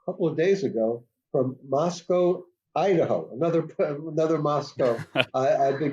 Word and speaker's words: Moscow: Moscow, Idaho is pronounced to rhyme, the locals say, with Costco to make it might sound like Moscow, Russia.